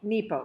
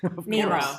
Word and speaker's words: Nepo: when he wrote this and it's beautiful so nepo mark nepo did i say it wrong nero i said nemo finding nemo i'll just read